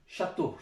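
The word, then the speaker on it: château: donc தோ, ஷத்தோ, ஷத்தோ, ஷத்தோன்றது கோட்டை.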